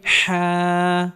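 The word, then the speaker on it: حاء: হা হা হা গলার মধ্যে হালকা চাপ দিয়ে উচ্চারণ করতে হবে। হা হা হা হা হা হা উচ্চারণের সময় বাতাস বের হবে।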